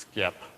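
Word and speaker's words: SXIP: So over at skip, which obviously is pronounced skip um and stands for the simple extensible identity protocol, we have sort of two message formats.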